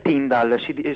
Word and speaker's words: Tyndale: La pronuncia è Tindal, penso si scriva Tindale.